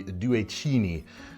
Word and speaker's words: Due Cigni: world, and that's the Due Signi line of Italian-made knives. And actually, proper Italian pronunciation, this would be Due Cini. My Italian friends out there can let me know if I'm doing that right.